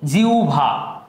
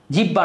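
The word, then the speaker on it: জিহ্বা: কি হয়, গৌভর, আহ্বায়ক, জিউভা, জিব্বা না, কি জিউভা।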